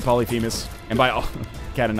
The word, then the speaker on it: Polyphemus: do have polyus so apparently it's pronounced polypous I don't know I I've always said polyphemus and by all cat